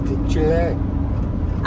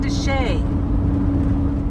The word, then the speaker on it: de Chelly: We're going to try to spend the night at Canyon Deay. I thought it was Dech. I did, too. It's It's spelled that way.